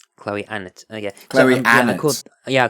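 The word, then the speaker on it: Chloe Annett: her own name so I'm going with how Chloe anut pronounces her own name Chloe an it yeah yeah I called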